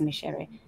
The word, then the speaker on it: Micere: And it's so it's not the pronunciation for rice, but it is Micere Githae Mugo, who parted from this physical existence last week on June 30th.